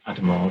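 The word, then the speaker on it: Hadamard: I think it's pronounced Adamar because it was invented by Monsieur Jacques Adamar, French mathematician.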